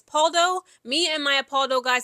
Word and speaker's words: Pauldo: I believe you pronounce their last name as Paulo.